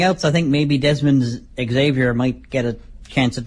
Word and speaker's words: Xavier: So next up, we have the 6-way X Division match, which sees Trevor Lee defending his title against Desmond Xavier, or Xavier. I've heard it pronounced both ways.